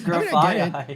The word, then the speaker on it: Grafaiai: It's Grafaiai.